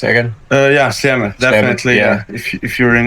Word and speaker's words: Sljeme: How do you pronounce it again? Yeah, Sljeme, definitely.